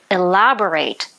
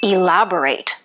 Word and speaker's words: elaborate: Be careful when you pronounce the word elaborate, as it's not the adjective which has a different pronunciation, it's the verb elaborate.